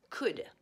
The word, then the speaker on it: could: the past of can can in the past is could don't pronounce the L now we use could